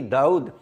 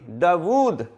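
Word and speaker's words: Dawud: डी ए यू डी दाऊद नो यह जो वाव है यह साइलेंट नहीं है यह मुतहर है और असल लज है दाबू द डी ए W double O डी दा वूद और इसके ऊपर कुराने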